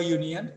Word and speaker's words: union: Same example with union also. So year is here again, so you people have to say a union and not an union.